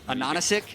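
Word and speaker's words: AHaHaCiK: name is spelled A-H-A-H-A Anonisic, yeah, it's because the capital H's are meant to be N's, which is Anonisic, which is pineapple in German.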